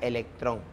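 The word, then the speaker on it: ἤλεκτρον: la piedra no a este ámbar en griego se pronuncia electrón no es el vocablo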